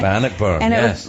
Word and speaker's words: Bannockburn: Bannockburn. Am I saying it right? Bannockburn.